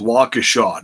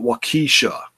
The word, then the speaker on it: Waukesha: was in Milwaukee Waukesha it's a Waukesha not what Keesha okay joking about how